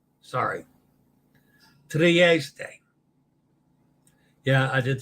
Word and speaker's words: Trieste: Trieste. Sorry. Trieste.